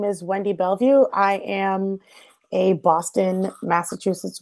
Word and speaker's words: Bellevue: Bellevue right your last name yes it's perfect Bellevue you like the first ones that say it